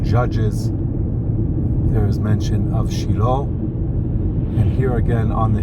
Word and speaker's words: Shiloh: Shiloh, we say in Hebrew Shiloh. In English, many pronounce the name Shiloh, which is the biblical